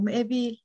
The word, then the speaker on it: مقابيل: M'ebil, you see the qaf is pronounced as a e.